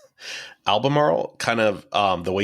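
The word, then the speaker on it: Albemarle: I've always thought that almaral was a really hard word to say it definitely is it's kind of like Mar the cigarettes the al marro man albamar kind of um the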